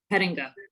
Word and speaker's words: Pettinga: Is it Pettinga? Did I pronounce that correctly? Yes, correct. Good job. Pettinga.